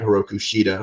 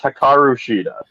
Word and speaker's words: Hikaru Shida: battling and hopefully get heroku shita who made the save to help deakanti and you always say her name wrong pl please please please kyle told me to yell at you that's hakaru shida hikarushita myopathy where you